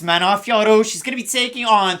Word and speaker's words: Manon Fiorot: it is nice France's own the Beast it's pronounced manafiaro she's gonna be taking on Thug Rose namiunus